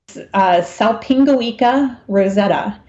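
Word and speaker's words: Salpingoeca rosetta: So the choanoflagellate is Salpingoica rosetta. And because it's such a bear to pronounce, we just call it S.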